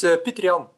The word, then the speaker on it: Peter Jan: It's Peter Jan.